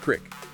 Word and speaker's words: creek: The examples given were pairs like creek, sometimes pronounced as crick, coyote with 2 syllables, versus coyote with 3, route rhyming with out versus root rhyming with boot.